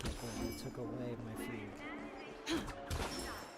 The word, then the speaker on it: fugue: One of my siblings pronounces fugue as in like fugwe, and I swear to God, it's super irritating. Like, I don't, like, it's alright. I mean, people have different ways of pronouncing things, but fugwe just sounds very wrong to me.